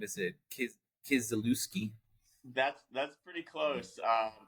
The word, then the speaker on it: Kisielewski: It's actually pronounced Kisielewski if you pronounce it Okay. like the Polish way, but Kisielewski is just fine.